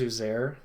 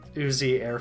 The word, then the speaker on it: Uzair: You know, I didn't know his name was Uzair. And so for the longest time, I pronounced it Uzi Air Force One.